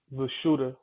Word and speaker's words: Vishuddha: is the vertical bridge the sanskrit name for the throat chakra is the shooter and it's spelled v i s h u d e d h a prosciutto and it means purification